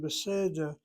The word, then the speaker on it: beseder: Every time you see that word beseder, the accent is on that first syllable. Why? The tsere attracts the accent. Has nothing to do with being irregular.